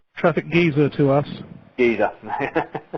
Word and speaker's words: Geyser: Geezer.